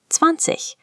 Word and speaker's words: zwanzig: Finally, we reach 20, zwanzig. The IG at the end of German words often makes a soft, airy ich sound.